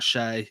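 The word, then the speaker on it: Shai: one way or another you've got Shay you've got or sha however you want to pronounce it you've got Jamal muray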